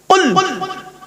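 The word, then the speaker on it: قُلْ: 1 number আল্লাহ বললেন কুল। কি বললাম বাবা? একটু উচ্চারণটা করুন।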